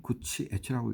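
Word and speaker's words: 口悦: 요정 정치에서 그 좀 알아주는 곳, 그게 바로 이제 오늘 지금 제가 말씀드릴 요정의 하문은 구열, 입이 기쁘다 이런 뜻이죠. 일본말은 구치 에치라고 읽습니다.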